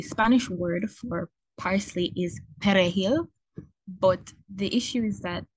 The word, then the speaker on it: perejil: And the Spanish word for parsley is perejil, but the issue is that those with native Haitians, they can't pronounce it. They can't roll the R, so it sounds very different, and that's what they've used to kind of distinguish that.